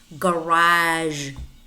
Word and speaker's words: garage: not big beach it's beige massage massage garage garage prestige prestige regime regime Mirage Mirage but